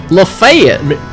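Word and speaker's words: Lafayette: Lefayet. That's how you pronounce it.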